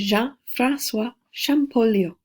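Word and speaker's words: Jean-François Champollion: French scholar one of my favorite names to pronounce when we're reading about the ancient Egyptians because it's a french name name is john francois shampoo leo so you'll read about him see some pictures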